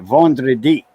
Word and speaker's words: vendredi: got it spelled, but I know how to pronounce it, vendredi.